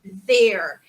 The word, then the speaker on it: there: A pronúncia é igual, tá, gente? Não muda. There. Língua para fora, hein? Tem que fazer.